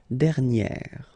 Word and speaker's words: dernière: And then second example, dernier, okay? And you will get dernière. All right, so keep in mind that you should put this accent grave, and then you pronounce it like e, okay?